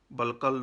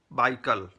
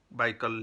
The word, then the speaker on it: Baikal: Balkal, no, the correct pronunciation is Baikal, Baikal Lake, Baikal, Baikal Lake, referred to in the Vedas.